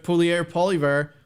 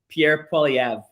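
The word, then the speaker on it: Poilievre: how do you say how do you say his last name Pier POV POV okay wow we've been wrong so wrong Pierre POV it's interesting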